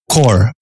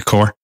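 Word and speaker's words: Kaur: her name i i always go to the pronunciation guide beforehand yeah core core valerie core yeah k-a-u-r and the revolutionary love circle and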